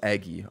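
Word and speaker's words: Eguy: It is Eggy. All right. Either way, we're past the whole who's related to who, how to pronounce names part of the video.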